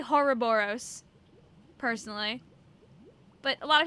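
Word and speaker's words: Horrorboros: How do you pronounce Horoboros? I say Horoboros, personally.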